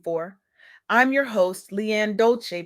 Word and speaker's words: Dolce: I'm your host, Leanne Dolce, pronounced dol-chay, like sweet softness whispered in French.